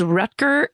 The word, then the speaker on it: Rutger: Even though his name is spelled Rutger, I watch people pronounce it Rutger.